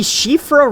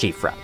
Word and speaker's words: Siofra: the shifra river well I believe that is how you pronounce that name some many people have pronounced it CRA which does sound pretty neat but I've heard it's supposed to be pronounced chifra uh I don't know what